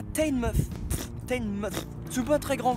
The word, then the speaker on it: Teignmouth: Mais avec la prononciation anglaise, la première fois qu'on m'a dit Teignmouth, j'ai répondu No, I'm single, je n'ai pas de meuf.